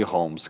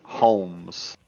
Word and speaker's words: Holmes: Darnay Darnay Holmes. Tipo Sherlock Holmes.